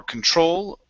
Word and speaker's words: control: uh next we have the word control so our stress is at the very end okay so yeah a constant battle for control over my thoughts try